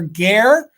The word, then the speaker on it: Gare: Yes, Gare. because Okay. it rhymes with air.